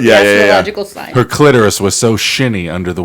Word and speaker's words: clitoris: Clitoris. Clitoris. Clit and then the clit space and then taurus, like Yeah, the yeah, yeah. astrological sign. Her clitoris was so shinny under the water.